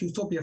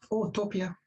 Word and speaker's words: Utopia: place so otopia meaning if you pronounce it as otopia it means no place meaning it's a perfect